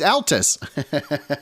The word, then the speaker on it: Altus: little bit enjoy enjoy Alice Oklahoma is that really but not spelled like the girl it's Altus pardon me Altus yeah I've got to